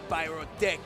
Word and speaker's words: Pyrotech: And forgive me, I constantly mispronounce it because I'm used to Keikun saying pyrotech, you know, so pyrotech. Right. And he confirmed himself that's what it is.